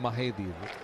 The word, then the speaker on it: Mahedi: See, that's an interesting pronunciation. I would call him Mehdi, but you call him Mahedi.